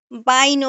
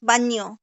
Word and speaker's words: baño: bañáis ellos se bañan আচ্ছা, আমাদের উচ্চারণটা কি হইতেছে একটু খেয়াল করেন তো। বাইনো, বাইনো, বাইনো, বাইনাস এরকম হইতেছে না? কিন্তু আসলে জি উচ্চারণটা কি baño হবে? বাইনো হবে bainas না। উচ্চারণটা হবে বান ইয়ো, বানিও, বানিও। হুম, বাইনো না, বানিও, বানিয়াস।